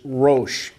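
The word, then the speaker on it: Rosh: highlight the prince of rash some would pronounce that and say that the proper pronunciation is RO uh I'm not going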